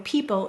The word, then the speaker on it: people: because we know that the eo in people is saying the e sound it's a phonogram representing